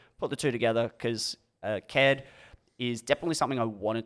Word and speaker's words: Caird: But yeah, Caird, it's spelled Caird, and I get some weird ones where they're like, oh, Caird.